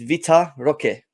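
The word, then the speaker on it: Vitor Roque: you know Victor Victor it's not Victor it's Vita Roque Victoria we're talking about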